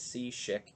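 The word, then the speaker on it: Cishek: check me on that so i think it's c chic even though it's with a c pronunciation american language tough right um and i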